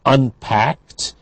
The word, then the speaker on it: unpacked: In number 4, she actually unpacked the dishes, packed t at the end because of k, simply of unvoiced dental at the end.